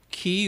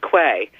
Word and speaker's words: quay: are really confusing or qu a why pronounced key work way that one always gets me I always thought it was clay and I would hear